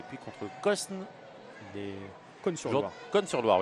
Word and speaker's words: Cosne-sur-Loire: Cosne-sur-Loire, oui, pardon, on ne prononce pas le S, joueur de la Nièvre.